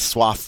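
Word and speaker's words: soif: one of those words suave where we get to pronounce the final consonant we don't always get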